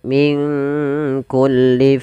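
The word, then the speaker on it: من كل: Kemudian min kulli fakihatin zaujan. Nun mati ketemu kaf. Di sini kita namakan dengan bacaan ikhfa. Maka cara membacanya samarkan nunnya kepada huruf kaf. Minku langsung kepada makhraj huruf kaf.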